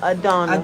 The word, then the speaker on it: Adonna: You You may got spell Adonna. Adonna, Adonna. It's spelled like Madonna, but take the M away.